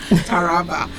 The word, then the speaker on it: Taraba: right forgive me taraba taraba thank you accent taraba thank you so much so we have 64